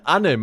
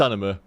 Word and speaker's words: anime: call it anime or anim anim yeah an anim or animy I must confess I also used